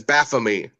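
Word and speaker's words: Baphomet: He says baffamy just to make it rhyme with c.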